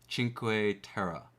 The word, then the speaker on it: Cinque Terre: So, it's Oh, it's a ch sound. So, it's a chinq. Chinq terra is the pronunciation.